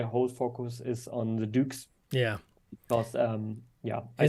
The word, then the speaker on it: douc: just search for it Duke is spelled d-o-u-c all right so if